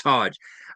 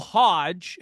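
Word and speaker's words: Hoge: who I work and his last name is spelled H O G E. There's no D in there.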